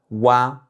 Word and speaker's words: ua: Dans cette vidéo, on va voir la finale wa wa donc il s'écrit avec u et a. Donc on peut le voir comme une combinaison des finales ou et a qu'on a vu précédemment. Vous pouvez aussi le voir comme le son qu'on dit dans quoi en français, le wa à la fin.